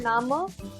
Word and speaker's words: Name: And this E in the end, like in this word Nama, this E in the end will be pronounced as A in the end. So this will be Nama.